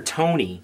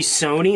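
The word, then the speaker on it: Sonya: times because he actually calls her Tony supposed to be Sony like Sonia okay he's like Tony it's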